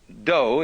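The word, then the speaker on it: 道: the Japanese worked out the science of Judo dough is the way the Japanese pronounced Dao Jew means gentle judo the gentle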